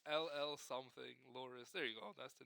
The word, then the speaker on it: Loris: Loris, that's how you say his name. Loris.